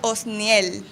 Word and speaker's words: Osniel: Eu vou tentar pronunciar de novo aqui, mas em brasileiro eu já sei que fica mais fácil falar Osni, mas eu vou tentar Osnior. Osnior. Que na verdade em espanhol seria Osniel.